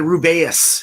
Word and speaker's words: Rubaeus: So we got the Rubaeus is how they pronounce it.